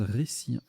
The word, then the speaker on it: hertzien: assez vicieux, en 14G, hertzien, joker Z, ça c'est rude, c'est pas du tout évident à construire. Ah, on prononce récien. Oui, récien, d'accord.